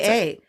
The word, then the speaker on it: Ouija: We still don't know how to pronounce O-U-I-J-A, right? Ouija? Like, Ouija. I get, because it's, like, French.